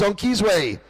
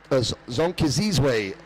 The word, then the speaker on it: Zonkizizwe: It is Zonkizwe. Zonkizizwe Holomisa leading, and we had a lot of fun learning how to pronounce Zonkizizwe's first name.